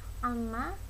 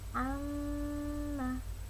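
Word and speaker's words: عَمَّ: Kalian membacanya bukan amma tapi amma.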